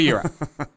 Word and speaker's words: gyro: to a Greek restaurant someone's order orders a gyro it's like no it's a euro what about what about